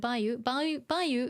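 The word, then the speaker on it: 梅雨: You're talking about tsuyu, but Bayou is it's pronounced Bayou when it's, let me see, on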